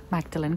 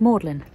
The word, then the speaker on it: Magdalen: sense like in Oxford you'd think it's Magdalene college but it's not it's pronounced modeling or um be sister b-i-c-e-s-t-e-r